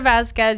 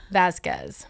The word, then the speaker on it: Vázquez: your points again real quick uh uh Vazquez you can find me on um Instagram is